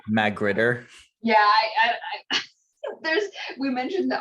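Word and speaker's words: magrittr: It's Magritter.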